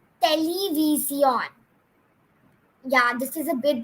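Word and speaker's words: televisión: And you don't pronounce television in Spanish as television. No. But you pronounce it as television.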